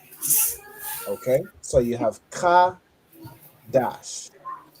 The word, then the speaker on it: Qadash: So the da and sha when they join together they make dash. Okay. So you have ka dash.